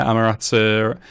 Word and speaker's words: Amaterasu: And we've explored into the oasis where they found another Amaterasu.